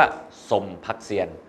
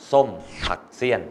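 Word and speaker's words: ส้มผักเสี้ยน: พัก เสี้ยน นะ ครับ ไม่ ใช่ ว่า สม พัก เซียน ส้ม ผัก เสี้ยน ไม่ ใช่ ผัก นะ ครับ มัน จะ ออก เสียง ว่า ผัก ส้ม ผัก เสี้ยน ถ้า ช้า กว่า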